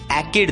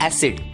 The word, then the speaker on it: acid: दोस्तों, इस शब्द में C के सामने I ये अक्षर आया है और इसलिए C की आवाज क न रहकर स बन जाती है और शब्द का उच्चारण होता है ACID, एकिड नहीं, शब्द का उच्चारण होता है एसिड।